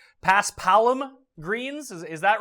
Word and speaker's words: Paspalum: what does it have you how do I pronounce this it's Paspalum greens is that right you got it yeah Paspalum yeah they're super slow they are slow and